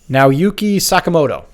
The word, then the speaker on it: Naoyuki Sakamoto: Now, I am going to do my damnedest to try to pronounce his name correctly. You're way better. Are you ready for this? Go for it. Naoyuki Sakamoto.